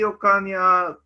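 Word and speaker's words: Ocaña: The next speaker is Breezy Ocan Flaquer. My Yes. pronunciation is right? Yes. Breezy Ocan. Ocan.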